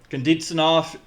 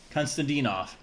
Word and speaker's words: Konstantinov: Konditsinov, I'm not even... Konstantinov. That's how you say it. Sound it out.